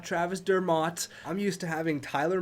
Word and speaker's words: Dermott: stand corrected it's not Travis Dermott I'm used to having Tyler Mott on the Canucks so I'm gonna say I was wrong it's Travis Dermott so here we are Travis Dermot's not Travis Thurmont there was like 17